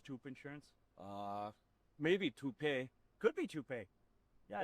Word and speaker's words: Toop: Uh Maybe Toopay. Could be Toopay. Yeah, I don't know. Or Toat Insurance? Maybe? I don't think so. Say it right. That's t o o p. That's Toop.